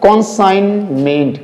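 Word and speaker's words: consignment: ये क्या हो जाएगा हमारा, कॉन्साइनमेंट, कॉन्साइनमेंट, यानी कि हम जी को यूज नहीं करेंगे।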